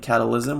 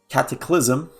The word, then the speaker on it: Cataclysm: Somebody called me out for saying it wrong, so Cataclysm.